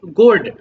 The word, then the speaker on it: gourd: একটু ইংলিশটা দেখে নিবা, বাংলা উচ্চারণটা পয়েন্টেড গোর্ড।